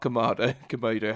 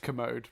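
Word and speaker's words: Kermode: But a lot of people praising this movie, not Mark Komodo, however you say his name. I think it's just Commode, but yeah.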